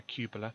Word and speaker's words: cupola: Yeah, that's how you pronounce it, a cupola.